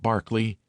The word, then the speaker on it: Berkeley: honorable Kirk Kudbright Eanover Major Bank Sellers Viccount Berkeley of Chanderlay Castle Warwickshshire pronounced Cubri Thin Landover Marshbank Sellers Viccount Barkley of Chumley Castle Warikshire.